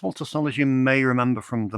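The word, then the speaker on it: Walter Salles: And we do like a bit of Donny Yen, especially when we pronounce his name correctly. Uh, next up is the new film from Walter Solers. Walter Salers, you may remember from The Motorcycle Diaries.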